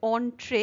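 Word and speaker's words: entrée: প্রবেশের বিশেষ অধিকার দিয়েছিল এই অনট্রে উচ্চারণটা হচ্ছে অনট্রে যেটা একটা ফ্রেঞ্চ শব্দ যার মানে প্রবেশের বিশেষ অধিকার।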